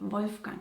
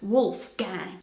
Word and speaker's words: Wolfgang: Pronounced with an American accent, it's Wolfgang.